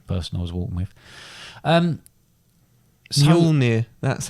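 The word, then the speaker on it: Mjölnir: Mjolnir, that's how you pronounce it.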